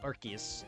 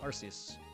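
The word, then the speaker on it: Arceus: sure are wrong like it's pronounced archus I pronounce them arus I've always have I just say archus now because people gotten into my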